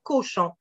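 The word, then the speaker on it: Cauchon: L'exemple du nom Cochon. Ça s'écrit C-A-U-C-H-O-N. C'est un patronyme qu'on retrouve ici au Québec. Et on dit pas cochon, on dit cochon.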